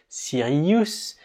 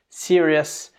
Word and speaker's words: serious: Alors attention d'ailleurs avec ces mots-là, ils se terminent en OUS, donc on a envie, nous francophones, en les lisant, de les prononcer ous, Sirius, nervous, mais c'est faux. Il faut les prononcer comme s'ils s'écrivaient EUS, serious, nervous, c'est comme ça.